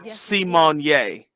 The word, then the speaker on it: Symoné: typed on the screen it's pronounced simonye it said it on